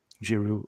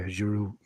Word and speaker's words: Giroud: The D is silent. Giroud. Okay, Giroud.